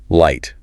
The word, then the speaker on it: light: Fourth light. This one shows the power of those letter patterns. That gh cluster triggers the long i a the gliding dip thong.